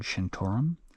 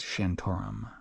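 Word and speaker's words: Shantaram: m but it's pronounced shantum I believe so like there's a vowel between the T and the r um and he mentioned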